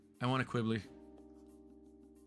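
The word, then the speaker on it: Qubeley: MK2 and and a Quibbly. I want a Quibbly. Quibli, depending on how how you say it.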